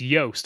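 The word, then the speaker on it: Joost: yeah we love um his name rhymes with toast it's yast I've been I've been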